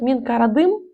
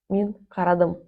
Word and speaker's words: мин карадым: Сказать минкарадым будет не совсем правильно. Мин карадым. Минрадм. Я посмотрел.